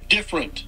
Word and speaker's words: different: Maybe I don't pronounce the T at the end. Different? Because different in French is différent, which is almost the same. So maybe I'm just taking too much time when I pronounce the word like I do in French.